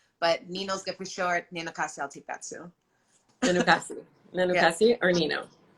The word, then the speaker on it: Nenookaasi: Please, can you say your name for one and for everybody to hear so we know exactly how it's pronounced? Yeah, so it's Nenookaasi.